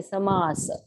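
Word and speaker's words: samāsa: like you have samasa when you say samasa You Don't See samas generally it's a wrong pronunciation especially if you see North Indians they will pronounce all half it is actually full you are taking a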